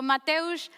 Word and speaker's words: Mateusz: experience you're having so mateosh i hope i'm pronouncing well your name the floor is yours thank you lourdes and yes you are pronouncing my name very much uh the correct way i want to start